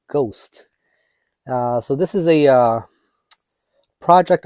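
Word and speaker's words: Gost: Now you may be tempted to say Ghost, although it's spelled G-O-S-T. It goes by Ghost.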